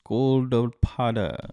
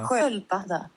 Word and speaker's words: sköldpadda: So imagine my surprise when I look, for example, at this word, the turtle one. You see? Turtle. Turtle. And I'm like, Skolpada. Goldpada and Skolpada. Yeah, let's hear it. En sköldpadda. And Skolpada. Right. What in the world?